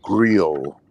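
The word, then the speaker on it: griot: because um in the same tradition as the grill um the the whole Creole system in Africa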